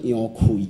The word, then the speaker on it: 楊逵: 啊，那杨奎应该读作杨奎啦，杨奎啦吼。啊，咱伫遮可能大家拢讲伊杨贵，杨贵是